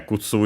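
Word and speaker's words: 靴: Yeah, Kutsu is accented on the last syllable, so it was correct.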